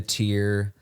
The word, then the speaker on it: TYR: the shoe wrong yeah it's the tier Valkyrie Elite yeah tyr they are a brand